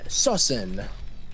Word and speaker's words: SoSin: it is that boy sawsan why do you actually say his name correctly so soon so send I would say so soon so soon I mean SOS in Wu like a verb yeah I was thinking